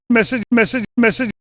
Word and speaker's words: message: Making, simple, message. Here it's message, not message. Message, with emphasis on that first syllable.